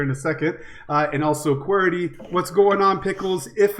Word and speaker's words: Qwerty: And, is it Qwerty or how do you pronounce this?